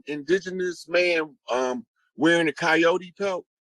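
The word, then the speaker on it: Kiote: i o t uh coyote that's an indigenous name that's actually the uh tribe whose totem is the coyote and it's it's um it's spelled that way and it sounds like coyote or coyote but it's a tribe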